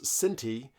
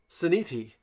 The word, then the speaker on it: Sinti: For some reason, Raul Nugent can't pronounce Sinti. How did he say it? Siniti. He puts like an extra I in there.